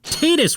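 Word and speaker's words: Tidus: I know it makes more sense for it to be Titus, what with all the aquatic stuff the game throws at you, but they pronounce it as Titus in Dissidia, so I'm going with that.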